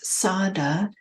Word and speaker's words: saddhā: to introduce a third faculty and that is sadada German teachers often pronounce it as Sada in paully it would be Sada but it's